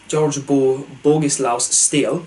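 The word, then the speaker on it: Staël: So in 1741, George Bogislaus Stale, to pronounce it correctly, who was a field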